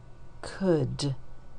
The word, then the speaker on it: could: was using the yellow this part is odd o u l to say uh and could and if you remember could you will also remember would o-u-l and should in these words okay